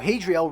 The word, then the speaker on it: Hadriel: Oh, Hadriel rhymes with hell.